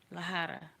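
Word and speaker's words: la jarra: Lahara like like with the J but the J is pronounced as a H.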